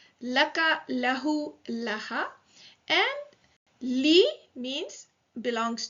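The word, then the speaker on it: لَهُ: So we don't say lihu because it is difficult to say lihu, right? So for ease of pronunciation, the kasra on the li is changed to a fatha.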